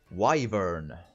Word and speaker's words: wyvern: affect spawn units hmm and wyvern is apparently the correct way to say it removed three strength from an opposing non-gold unit hmm in this case I tend to go toward the wyvern I stink I don't